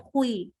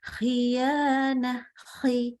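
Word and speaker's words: خيانة: Jadi gini, jangan khuyana, akhirnya jadi khui. Nah, ini nggak boleh. Ya, biasa aja. Khiyana, Ya, itu pasti kalau kita udah berusaha ke makrosnya itu sudah menjadi tafkhim.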